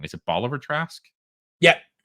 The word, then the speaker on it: Bolivar Trask: And then the whole episode wraps up with them going after and I always get his name wrong. Is it Bolivar Trask? yeah, Bolivar Trask.